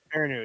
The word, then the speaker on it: Perrineau: Perrineau. Yes, that's the last Perrineau. Very long, but it's pronounced very short.